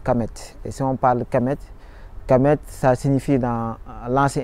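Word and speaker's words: Kemet: Et si on parle Kamet, Kamet, ça signifie dans l'ancien égyptien, ça signifie noir.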